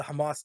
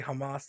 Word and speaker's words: Hamas: This guy, this IDF soldier, he's like, we are currently in a Hamas, because they say it like that. They don't say Hamas, they say Hamas, right?